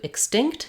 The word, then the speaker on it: extinct: talked about above and in this word the letters e x are going to sound like X or extinct um you might hear